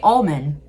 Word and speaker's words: almond: Americans say the L. We say almond. We don't overannunciate the L, but like you can say you can tell you're saying almond. Almond.